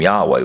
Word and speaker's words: Yahweh: debates on for example how to say the name of our Father I personally call him Yahweh which is based on